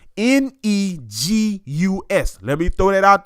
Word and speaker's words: Negus: by spelling the word first, then give the pronunciation. Negus. I'm going to say it one more time. Negus.